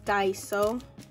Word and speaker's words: Daiso: I always say it wrong. And the reason I say it wrong is because my daughter's name is Daisy. So I gravitate with Daisy when I know it's Daiso.